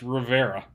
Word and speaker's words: Riviera: is in Rivera Texas which is spelled Riviera I still haven't wrapped my mind around this but is pronounced Rivera Billy will explain that